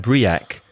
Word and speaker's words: break: when you read this as a Spanish speaker you might say bracket and BRE AK but the actual pronunciation of those words exactly the same as a reza said break and break let's have a break